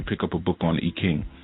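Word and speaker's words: I Ching: up a book on Ekking or as some pronounced the IQing.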